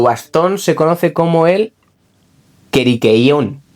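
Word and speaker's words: κηρύκειον: Y tu bastón se conoce como el queriqueón, o sea, bueno, es que esto es en griego, ¿vale?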